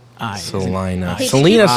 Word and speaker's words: Salina: Just so you know, it is Salina. Really? Yep. I've always said it wrong. S-A-L But I don't live there, so. E-Y-E for pronunciation. I. Salina. Hey, Selena Steve.